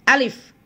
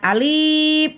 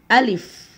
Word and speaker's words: Alif: Grup Asli seperti ini Alif Alif ya jangan Alip jangan ahli tapi Alif kemudian lemnya di sini